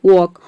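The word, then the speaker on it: walk: अब देखते हैं के, जैसे कि देखिए यहाँ पे है वॉक। वॉक में आप देख रहे हैं कि एल के बाद के आ रहा है। यहाँ पे हम एल को प्रोनाउंस नहीं कर रहे हैं।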